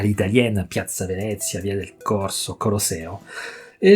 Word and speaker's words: Piazza Venezia: Et à la française, c'est justement mettre l'accent tonique à la fin. Donc il ne faut pas dire Piazza Venezia, il faut dire Piazza Venezia.